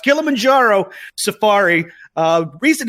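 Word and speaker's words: Kilimanjaro: the Kill A Manjaro more accurately pronounced kilamanjaro Safari uh reason it's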